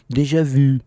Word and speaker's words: déjà vu: Déjà- Ai, Bianca, não é assim que fala, é déjà vu.